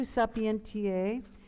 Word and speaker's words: sapientiae: So instead of O virtus, a V would be a V in German, right? Sapientiae. An S would be a Z.